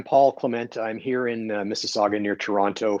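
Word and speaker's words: Mississauga: Clement I'm here in mississaga near Toronto for those of you uh who can't pronounce anoun Miss Saga um so I'm uh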